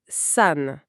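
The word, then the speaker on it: さん: Et de l'autre côté, il y a la lecture onomi. Oniomi, là c'est une adaptation de la prononciation chinoise de l'époque où le caractère a été emprunté. Pour notre montagne Yama, la lecture en c'est san. San.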